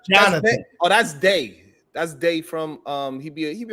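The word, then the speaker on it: Dey: That's Day. That's Day from he be on Fight Club every now and then. You know Day? Nah, Day? Day, yeah, that's Day. How you spell it? D-E-Y, Day.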